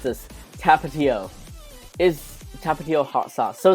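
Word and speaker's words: Tapatío: where people give me their recommendations for sauces tapatio oh okay tapatio thank you for educating me on how to pronounce this tapatio is tapatio hot sauce so is this like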